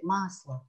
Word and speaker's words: масло: en gras, mais c'est masla. On le chante légèrement. Masla. Masla. Beurre. C'est le beurre. Masla. Donc bon, ça c'est un O qui se prononce A.